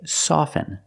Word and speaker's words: soften: often with both words I don't pronounce a t i say soften and I say often